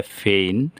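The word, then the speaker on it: feign: জি এনের পূর্বে আই আছে, তাহলে ফেইন, উদ্যাপন করা।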